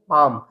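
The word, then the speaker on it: palm: यहां भी एलएम एक साथ आया है। तो एलएम अगर मिलता है आपको तो उस कंडीशन में एल जैसे आपको यहां बताया था तो उस कंडीशन में आपको एल साइलेंट रखना है। तो इसको हम रीड करेंगे पाम।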